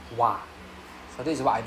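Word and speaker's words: は: So over here you can see this particle wa is not written as wa but written as ha. But it's pronounced as wa.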